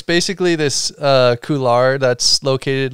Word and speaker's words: couloir: Couloir. Oh, say it like a Frenchman. Couloir.